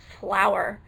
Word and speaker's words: flour: But I'm pretty sure that all of these bags are bags of flour. Flour, F-L-O-U-R, pronounced the same way as flower, F-L-O-W-E-R.